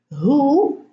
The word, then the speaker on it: who: Who, whom, whose, whole. Now, who, whom, whose, these are question words. and the W here is silent, and we pronounce the H.